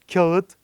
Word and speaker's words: kağıt: ölüsünü iki defa söyletir bizim kağıt kağıt kağıt diye telaffuz ettiğimiz kelime ğ ve ı ünlüsünü çıkardığımız zaman Kağıt şeklinde Bundan böyle telaffuz etmemizi sağlar yani Kağıt değil kağıt şeklinde telaffuz edeceğiz Neden Çünkü a ünlüsü